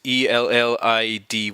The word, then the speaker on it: Elide: That's what I gotta pronounce. It's Ellidy, Elide.